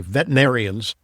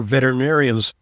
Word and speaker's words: veterinarians: I have to be careful how I pronounce that because I sometimes say veterinarians. There's another syllable in there. My friends who are veterinarians, from them I gather